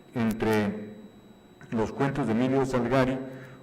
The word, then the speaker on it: Salgari: cuentos de Emilio Salgari, o Salgari, como dicen que se dice, pero nadie nos va a convencer de que no se dice Emilio Salgari, ¿no? Aunque se diga Salgari, pues nosotros siempre diremos Salgari.